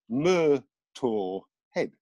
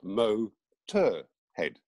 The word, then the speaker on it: Motörhead: german you know expect if you want the whole of the germanic world to mispronounce motorhead they're going to go mur tour head yeah not mo tur head yes and he oh